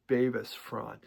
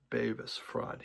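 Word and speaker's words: Bevis Frond: He said it's called Bavis Fraud. He heard Nick Solomon do on interviews. So, I've been saying it wrong for many, many years, and I'll probably continue.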